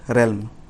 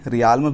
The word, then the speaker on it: realm: इस वर्ड को पढ़ा जाता है रेल्म। रेल्म कई लोग इसे रियाल्म भी पढ़ देते हैं, लेकिन रेल्म इसकी करेक्ट प्रोनाउंसिएशन है।